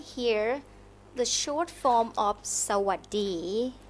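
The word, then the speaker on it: สวัสดี: So hello in Thai is Sawadee. Sawadee. Sawadee. Oh, I feel like I said it wrong already. Sawadee. Not bad, not bad. Sawadee.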